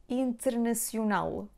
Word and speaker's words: internacional: Internacional, internacional, internacional, internacional, internacional. Here we have the nasal sound in, internacional. So here we have the last syllable stressed because it ends in an L.